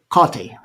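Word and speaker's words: Hecate: To the Greeks, they use garlic to invoke Kotti. That's the way it's pronounced.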